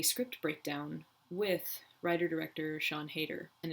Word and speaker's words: Heder: breakdown with writer-director Sian Heder, and it is Heder. I said Heder earlier in this video because I didn't know the pronunciation and I didn't look it up before, and I apologize.